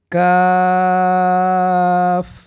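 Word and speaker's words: ق: ফা এরপরের হরুফে যাব আমরা কফ সুন্দরভাবে বলুন গলার ভিতর থেকে কফ এরপরে কাফ আপনি চমৎকারভাবে বলার চেষ্টা করুন।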